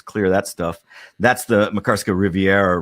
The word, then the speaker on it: Makarska: Is it Makarska? Yeah, we're near Makarska, the Makarska Riviera.